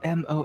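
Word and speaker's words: Moh: It's M O H. Yeah, that's how he spells it. It's just pronounced Mo.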